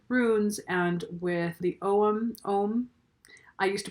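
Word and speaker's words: Ogham: and working with runes and with the om ohm I used to pronounce it o gyum which was wrong in both books she will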